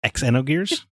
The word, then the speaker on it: Xenogears: Well, I'm actually pretty sure, according to Scoot here, it's pronounced Xenogears.